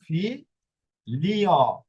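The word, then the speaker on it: figlio: এরপরে যখন জি এল এ ই পাবেন তখন এর উচ্চারণ হবে লি। লি ওকে যেরকম ফি লিও। ফি লি অ ফি লি অ। এখানে জির উচ্চারণ হয়ে গেছে লি এর মত।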